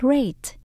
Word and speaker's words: great: Ở đây mình đọc là âm A. Các bạn đọc là A. A. Mình ráp chữ G và chữ R. Gr, gr. Great. Great. Tận cùng có chữ T.